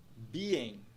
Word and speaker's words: being: A palavra tem dois sons de vogal, então ela tem duas sílabas. Primeira sílaba be, segunda sílaba en. Nós vemos ali, após a primeira sílaba, um apóstrofe, o que indica que a primeira sílaba é uma sílaba estressada. Então, a gente vai pronunciar ela em um tom mais alto e alongá-la. Pronúncia da palavra é, então, being. Being. Being.